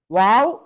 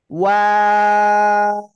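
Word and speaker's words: و: দুই ঠোঁট গোল করিয়া ওয়াও অক্ষরটা 3 আলিফ টেনে পড়তে হয়।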